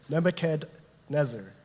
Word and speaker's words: Nebuchadnezzar: Nebuchadnezzar. Because there's a D before the Nezer part.